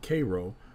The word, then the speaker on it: Cairo: Alexandria, Virginia, and Little Cairo, Illinois, though the locals pronounce it Cairo, are the other Egyptian-derived towns.